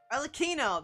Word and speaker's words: Arlecchino: Arlecchino!